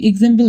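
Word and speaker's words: exam: বন্ধুরা তোমরা দেখতেই পাচ্ছ এই এক্স এক্স থেকে যে সাউন্ডটি ক্রিয়েট হয় মাঝে বসার ক্ষেত্রে সেক্ষেত্রে সাউন্ডটি হলো গজ।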